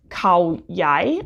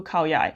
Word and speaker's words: Khao Yai: So this is the Hoya Spa 22 Khao Yai, I think it's pronounced. Hoya Spa 22 Khao Yai.